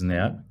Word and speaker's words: Nähr: Meu nome é Ner. No Brasil eu dizia Nar, mas agora aqui na Áustria eu falo a pronúncia correta, né?